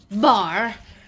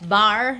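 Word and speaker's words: Bhaer: whatever just an FYI it is pronounced bar I believe bar it's I believe it's German and that happens and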